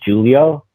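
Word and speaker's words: Giulio: change my name eventually to the uh called Julio which is it's like an Italian version that's spelled g i u l i o oh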